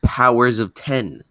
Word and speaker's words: Powers of X: And Powers of 10. Of course, yes. Powers of 10. Powers of 10. Jack, it's spelt Powers of X, but they call it Powers of 10.